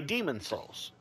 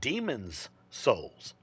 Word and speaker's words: Demon's Souls: Like I would just say Demon Souls. That's how everybody pronounces it. But it's not called Demon Souls. It's called Demon's Souls.